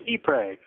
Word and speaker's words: Ypres: Light by Woods of woods of eay s it's eay I've been mispronouncing that name for two years at this point it's